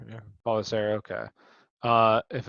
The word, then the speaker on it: Pelissero: Uncertain for week three, according to NFL Tom Pelissero. Is that how you say his name? Pelissero? I'm not sure how do you say his last name exactly. Um, if mild, I've heard maybe. Policero. Yeah. Pelissero, okay.